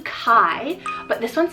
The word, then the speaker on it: Kaj: would be spoken, but it is pronounced the Danish way, like Kai.